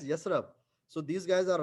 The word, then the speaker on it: Yathrib: Hassan, in English, it's called as like Yathrab, but it's basically called pronounced as Yasrab.